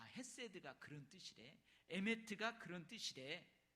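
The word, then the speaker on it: חסד: 한번 따라서 해 볼래요 헤세드 에메트 이건 한국식 발음인데 원래 헤세드 메트는 히브리어에 히브리어이 구약 성경이 쓰여져 있는 히브리어 단어입니다이 단어는 이미 우리가 체험하고 있지만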